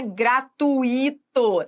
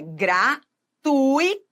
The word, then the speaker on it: gratuito: A pronúncia correta não é gratuito, não. É gratuito.